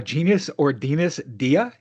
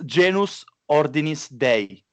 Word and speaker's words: Genus Ordinis Dei: think it's genius uh genius ordinus dia or am i close i kind of lie yeah so if you say it right yeah it's genus ordinance day all right there you